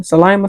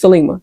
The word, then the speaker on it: Selma: Well, they run into to Gabriel's head henchwoman, Selma, I think it's how you say her name. Salma. Selma. Selma. It's Selma.